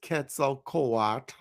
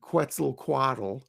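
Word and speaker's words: Quetzalcoatl: the second world is Ketzel Kat. And I'm pronouncing it like the the Aztecs would. People often call him Quetzel Quad.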